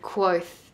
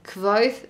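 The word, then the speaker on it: Kvothe: our main character for this book is called quoth kevoth every time every time i get stuck on his name it's spelt k-v-o-t-h-e the story is essentially a fantasy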